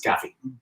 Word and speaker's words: Gavi: Depending on where you're from and how you like to say it. Italian Gavi. We are told it's Gavi.